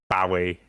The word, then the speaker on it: Bowie: Oh, yeah, I'm sure I saw an interview with him where he said it was Bowie like the knife.